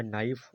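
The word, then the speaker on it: knife: यहाँ हम समझ लिया क्या, के साथ यहाँ भी एन है तो यहाँ के साइलेंट हो गया, यहाँ भी के साइलेंट। तो यहाँ हो गया नाइफ और यहाँ हो गया नोक।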